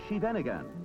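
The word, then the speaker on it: Scheveningen: of the city only a native can pronounce the name of this town properly it is shenan and during the war the Dutch underground used it as a password because Nazi agents couldn't pronounce it in the small city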